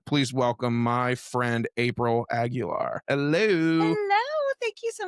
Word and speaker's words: Aguilar: It's funny because a lot of people would say Aguilera. Of course, when Christina Aguilera was very popular. But you said it right. It's Aguilar. Very good.